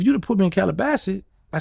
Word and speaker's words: Calabasas: Well, yeah, if you'd have put me in Calabasas, I said it right? Calabasas.